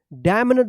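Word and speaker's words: damn: क्या पढ़ेंगे यहां पे भी क्या है एन साइलेंट रहेगा डी एम एन ई डी क्या पढ़ेंगे डैम्ड डैम मत पढ़िएगा डैम्ड पढ़ेंगे ठीक है यहां पे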